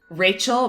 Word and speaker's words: Rachele: Yes, it's Rachel, but it's spelled like this: RACHELE.